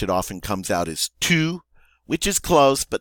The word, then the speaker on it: tu: In French, it is tu.